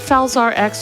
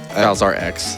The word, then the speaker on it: Falzar X: Now, is it Falzar X or Falzar 10? X. Yeah. Okay. Said it right the first time.